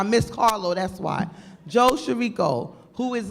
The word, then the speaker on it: Chirico: But I did say his name earlier, Joe Cicero. Joe Chirico. I keep calling him Cicero. Why? I know why, because Carlo is not here. I miss Carlo, that's why. Joe Chirico, who is like the epitome of the Italian restaurant owner.